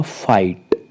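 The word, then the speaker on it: fight: हम क्या करेंगे य बीच वाला जो जी एच है साइलेंट रहेगा तो बन जाएगा फाइट एफ आई जी एचटी फाइट जी और एच को प्रोनाउंस नहीं करेंगे फाइट मतलब युद्ध डिलाइट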